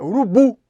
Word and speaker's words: urubu: Qual que é a sílaba tônica do urubu? É urubu, não é isso? Então é o bu, urubu.